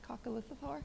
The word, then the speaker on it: coccolithophore: and it was this incredible, I'm going to mispronounce it, coccolithophore?